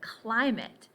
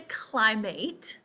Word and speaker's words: climate: at ending as in climate now this word by itself is eight but we don't say climate so let's really pay attention to what words have this spelling but are pronounced in this way that fits with these